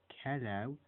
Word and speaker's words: cello: Yeah, cello has no H in it, so it's don't call it a cello or a cello. It's a cello.